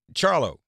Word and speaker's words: Charlo: Charlo.